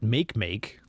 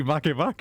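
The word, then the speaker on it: Makemake: said it right yeah it's clearly not make make it's it's obviously Mak Mak I mean come on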